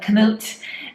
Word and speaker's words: kamut: We have kamut, which I looked up how to pronounce. It sounds very silly, but kamut at 153 points.